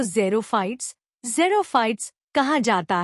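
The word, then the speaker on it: xerophytes: in desert are called zero fights pronounce zero since there is very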